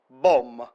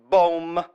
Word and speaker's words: bom: It's bom. Very simple, everybody. One syllable, bom. That means a good.